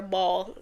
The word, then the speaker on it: Baal: challenges the prophets to Baal. If you know anything or ball is pronounced two ways. I've heard it both ways, but if you know